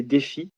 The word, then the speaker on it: Défi: Alors, j'ai mon nom c'est prénom c'est défi comme un défi. Euh ça s'écrit comme le défi et mon nom c'est.